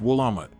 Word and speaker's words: Willamette: south of Portland and has over 200 Vineyards pronounced willamat for those who prefer coffee the city has